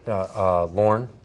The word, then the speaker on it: Lauren: phone number again okay Lauren spelled 8a ll is o n is the last name Lauren is the first name just one syllable and I'm licensed doctor